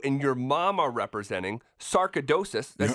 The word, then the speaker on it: sarcoidosis: cause that you and your mom are representing, sarcoidosis, did I say that right?